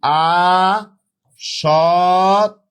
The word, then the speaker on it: আসক্তি: তাহলে সঠিক শব্দটা হবে আসক্তি আসক্তি আ সতি এটা হচ্ছে সঠিক উচ্চারণ আরযে এটা সঠিক উচ্চারণ কি হবে আসতি আসক্তি শব্দের অর্থ হচ্ছে এডিকশন